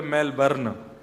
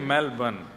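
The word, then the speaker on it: Melbourne: हमारे एक भैया बोले मेलबर्न जो मैल को जला दे मेलबर्न मैंने कहा नहीं मेलबर्न र जो है वो साइलेंट बोलो तो लेकिन हुआ क्या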